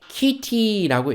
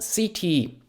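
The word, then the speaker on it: city: I 왔죠 그렇기 때문에 이게 키티라고 읽히지 않고 cd라고 읽혀요 어떻게요 키티 아니고 CT 말이죠 C 뒤에 아이가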